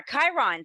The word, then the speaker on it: Chiron: what is like the Chiron effect like and hopefully I'm saying that right you are Chiron c-h-i-r-o-n it's pronounced the CH is like a k exactly like you said